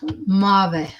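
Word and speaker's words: Maeve: But Mav is responsibility, and it's pronounced Mave. Mave? Mave.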